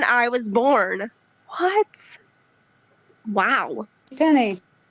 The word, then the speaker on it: JCPenney: No, I mean, like, if I had seen it with an E, I would have pronounced it Penne. But for me, it was just it was Penny.